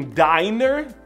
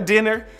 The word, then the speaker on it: diner: Porém, se você estiver em um diner, não é dinner, diner com um N só, aquele restaurante típico americano dos filmes da série, sabe?